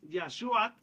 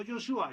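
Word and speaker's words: ישוע: lo vayan sabiendo que en hebreo moderno es Yashuat y en hebreo original Yashuat no Yoshua. Yoshua es pronunciación de que tiene con el griego, pero no es tampoco incorrecto, solamente que tiene la influencia griega y mucha gente le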